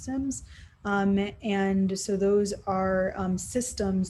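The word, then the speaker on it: SIEM: called sims that are spelled s-i-e-m-s but pronounced sims and so those are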